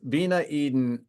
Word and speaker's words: Viña Eden: uh what's going on it's Vina Eden I'm going to pronounce it the American way uh it's v n